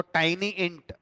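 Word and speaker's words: TINYINT: तो एक C1 नाम से कॉलम बनाया, और जो इंटीजर डेटा टाइप का सबसे छोटा वेरिएंट होता है, जिसको टाइनी इंट प्रोनाउंस किया जाता है, वो हमने इसको वो दे दिया।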